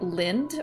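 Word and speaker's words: Lindt: Lind, pronounced lint.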